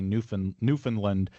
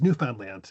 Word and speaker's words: Newfoundland: say it again is because Americans often say Newf Newfoundland but I I understand that that is not correct. I Yeah. And she says Newfoundland. Newfoundland like that. So, I try to like pronounce it like she does.